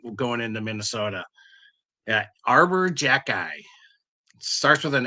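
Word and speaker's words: Xhekaj: k a j no it's pronounced Jackie yeah and but it's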